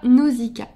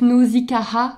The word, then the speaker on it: Nausicaa: petite femelle ça sera Nausicaa voilà me demandez pas pourquoi Nausica ça a toujours été de musical dans ma tête si c'était une femelle donc nosikaha ça s'écrit avec de a c'est mythologique il y